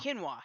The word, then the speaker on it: quinoa: Quinoa. Yeah. And I always used to Quinoa. pronounce it quinoa.